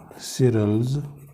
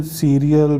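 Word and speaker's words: Cyril: सिरल, okay, my friend cereals new टाई। इसका pronunciation सीरियल भी हो जाता है, कई बार देखा है मैंने, सायरल भी बोलते हैं, सिरल, तो ये इसके प्रोनाउंसिएशन है कई।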